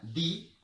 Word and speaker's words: the: Se pronuncia de cuando va seguida de una consonante, cuando va seguida de una palabra que inicia en consonante, y se pronuncia di cuando va seguida de una palabra que inicia en vocal.